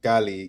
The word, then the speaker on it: Cali: I'm going back to Cali, Cali. It's pronounced Cali, Cali, Cali.